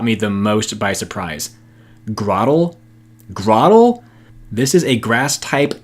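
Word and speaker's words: Grotle: and now without further ado here's the pokemon pronunciation that i could not believe grah ttle while this isn't a top-10 list of any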